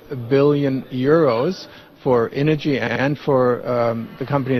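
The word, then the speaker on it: Innogy: the firm is called Ino if I'm correct tell us more about this firm and how the IPO went today yeah uh I I would pronounce it energy but uh we're talking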